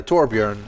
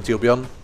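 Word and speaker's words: Torbjörn: if you play uh torbjorn which is your tuon I keep pronouncing it the American way even though he's actually Swedish so really should just call him ton um but he's he's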